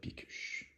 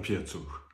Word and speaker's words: Piecuch: Comment devient-on Pickuch? J'ai vu que j'avais mal prononcé. Pickuch, oui. Oui, j'ai bien dit. À vrai dire, c'est Piecu. Je suis né en Pologne.